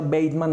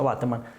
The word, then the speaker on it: Bateman: Vivart quiere decir Villegas Bateman, se pronuncia Bateman, el apellido de mi mamá, pero sí, aquí se pronuncia Bateman.